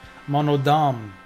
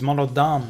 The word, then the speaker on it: Monodam: right this whole time it's mono funny and monodam he's monodam not mono Dam eight chapters in this